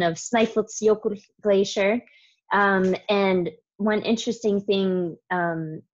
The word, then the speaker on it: Snæfellsjökull: So that's just kind of a fun, the pronunciation of Snaefellsjökull glacier.